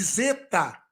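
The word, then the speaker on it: ζῆτα: o d Zeta Z Observe que não é Z é Zeta Zeta com acento agudo ali Ok com acento Zinho em cima do E então é o Zeta o Zeta ele é uma consoante dupla com o som de DZ Mas ele também pode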